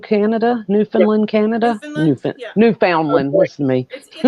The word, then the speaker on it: Newfoundland: Newfoundland. Okay. Listen to me. It's spelled that way, but it's Newfoundland. Newfoundland, just like the dog.